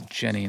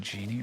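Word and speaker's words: Jennie: It's Jenny, not Genie, right?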